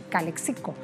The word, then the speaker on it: Calexico: presidente Trump estará en la zona fronteriza de Calexico en verdad así se pronuncia en California por supuesto del otro lado